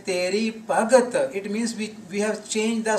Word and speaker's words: Bhagati: So when we change the setting, sing Teri Bhagat, missing the I sound at the end of the word Bhagati, then we just convert this feminine word Bhagati to masculine word, and Teri Bhagat is